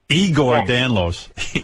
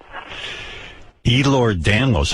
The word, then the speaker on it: Ehlers-Danlos: Igor Danlos. Igor. No. Ehlers-Danlos. How many people in the world have that? Can't be many. About 9 out of 10 people. 9 out of 10 people have Ehlers-Danlos?